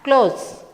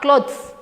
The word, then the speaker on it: clothes: This this one we have to pronounce it as close. T H is silent like how we tell close the door, close the windows. Similarly, we have to pronounce the word. Close not clothes.